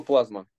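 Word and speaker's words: πλάσμα: Что такое плазма? А, нет, я неправильно писал. С острым ударением плазма. Как прагма. Ну, конечно, как прагма, да.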